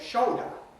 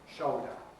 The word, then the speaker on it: shoulder: And this goes together with the vocalization of L, swallowing the L, so you actually get shoulder with a new diphthong O, shoulder, which then doesn't rhyme with coda or soda.